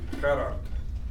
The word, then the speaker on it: Gerhard: DeBeer give you a quick pronunciation help on his first name. Gerhard.